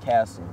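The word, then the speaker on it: CASOE: I'm with a smaller, less known group by the name of Castle. That's spelled C-A-S-O-E.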